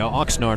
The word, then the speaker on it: Oxnard: bringing in Tyson Cole loss from Oxnard California Oxnard I should say that's the training training camp